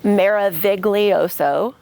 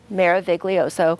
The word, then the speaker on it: Meraviglioso: language or whatever so maroso phonetically it's Mara voso Mara voso which most people can't